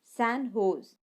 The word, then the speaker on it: San Jose: in the US recently the San Jose it is pronounced San Jose State of University of